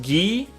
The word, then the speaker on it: gi: It's pronounced ghee.